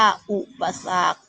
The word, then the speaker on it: อุปสรรค: คณะ คดี อ่าน ว่า วรรณคดี อุปสรรค อ่าน ว่า อุปสรรค ผิว พรรณ อ่าน ว่า ผิว พรรณ คะ อ่าน